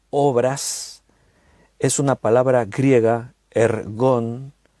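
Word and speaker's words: ἔργον: es una palabra griega ergon así tal como se lee como se pronuncia el gong que significa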